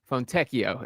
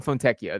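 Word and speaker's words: Fontecchio: Fonteio is the pronunciation. He is right on that now that I read that. That is uh Simone Fonteio there.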